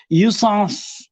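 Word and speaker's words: jouissance: ইংরেজিতে লিখি যদি JOYISSANCE, উচ্চারণটা সম্ভবত, যেটা তো ওরা পুরো যে বলে না, ইউর মতো পুরো পারবো না আমি করতে, ইউসান্স।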